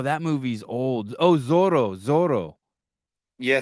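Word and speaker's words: Zorro: movie is old oh Zoro Zoro yeah Zoro with TS that's how you say it Thor you pronounce the Z with a th th th th that's good thoro yeah thoro not bad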